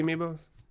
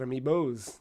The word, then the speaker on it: amiibo: did you buy the amiibos not yet I don't know why I just said amiibos that's not the proper pronunciation Matt amiibo is the plural of am B get that